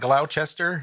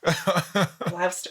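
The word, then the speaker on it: Gloucester: It's not Glowchester. No. Glster. Right.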